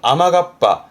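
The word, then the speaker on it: 雨合羽: 그래서 외래어에서 들어온 단어를 이제 한자를 갖다 붙이다 보니까 그렇게 된 건데, 요 카빠 뒤에 앞에다가 우자 붙여서 발음은 아마가빠. 이때 아마예요.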